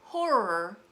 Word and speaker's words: horror: So that's the reason when you say the word horror, you want to exert a little extra air so you don't mix it up with the word whore.